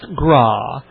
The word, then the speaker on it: Graae: Graae, which is pronounced Graae. Jason Graae.